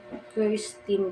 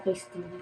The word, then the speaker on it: Kirstine: Kirstine po. Hindi po Christine. Dapat po Kirstine.